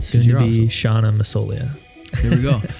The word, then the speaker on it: Massoglia: How do you say your last name? Because maybe I just... Oh, no. It's Massoglia. It's Italian. Dude, I was doing Massoglia, like a lot of people like do that.